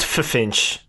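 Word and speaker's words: Ffinch: officer Finch spelled with two FS no it's pronounced fch it is because it's got two FS yep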